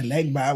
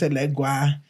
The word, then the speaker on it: Elegba: Because, you know, when in New York, Yeah, Elegba was Elegua. And that's only because, they don't pronounce B Right. in their language. So, and so now we can pronounce the B, and, they were still